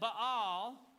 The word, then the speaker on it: Ba'al: one and they're everybody's worshiping bell or ba'al if you want to say it properly but we're in the south so it's baal okay uh they're worshiping